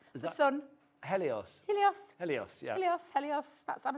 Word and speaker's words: Helios: I'm saying that right the sun Helios helos Helios yeah helos helos that's I'm saying it right